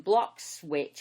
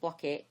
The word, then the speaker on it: Bloxwich: What I can see is a corridor that goes from Cannock Chase, and it runs down between Bloxwich. Am I saying it right, or is it Blockit?